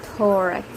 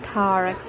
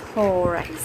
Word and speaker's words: thorax: is called as the thorax the connect correct pronunciation is thorax not tarrax it's thorax or just form a joint the mandible is